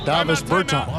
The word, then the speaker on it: Davis Bertans: Davis Bertans.